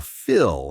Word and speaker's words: fill: Feel has that long E sound, while fill has a short I sound, similar to that sheet example we talked about earlier.